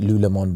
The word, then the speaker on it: Lululemon: yeah good underwear he told me to get Lou Lemon boxes right now the other day Saturday I thought were you calling them whatever how do you say it Lululemon Lululemon you just doubled the price over here yeah